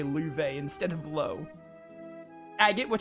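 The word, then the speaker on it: Loewe: I keep forgetting to pronounce his name as Luve, because apparently it's pronounced Luve. I will try to remember, but I might still say Lo on instinct.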